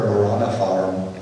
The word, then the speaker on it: Maranatha: And the early Christians, by the way, would have the great prayer, Maranatha, you say it correctly, but our Lord come.